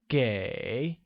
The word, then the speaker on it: 给: Give will become 给, which is pronounced with a falling rising tone.